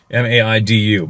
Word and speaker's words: Maidu: M-A-I-D-U, Maidu on my mom's.